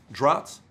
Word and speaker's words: draughts: most of checkers players which they call it draughts though they call it drown tell you how do you pronounce that cause droughts droughts yeah most droughts right so we they have